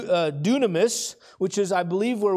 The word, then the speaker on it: Dunamis: that word power there I think this is how you say it do Dunamis which is I believe